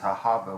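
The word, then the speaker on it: אהבה: The word love in Hebrew is Ahava with the half-silent first syllable.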